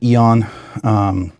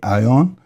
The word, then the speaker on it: Æon: So I've heard people pronounce it Eon. You know, you can pronounce it however you want, but in Danish it would be Aeon.